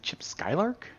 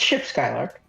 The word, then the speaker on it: Ship Skylark: Is it Chip Skylark? It's Ship Skylark.